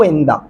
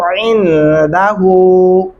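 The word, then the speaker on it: عنده: اگر آپ یشفعو اندا پڑھتے ہیں تو بہت بڑی غلطی ہوگی، 100% غلطی ہو گئی. کیا پڑھنا ہے؟ یشفعو عندہ، یشفعو عندہ.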